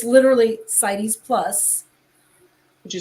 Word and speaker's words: CITES: Okay, they go to, it's literally CITES Plus. Could you spell that? CITES, not cities, CITES.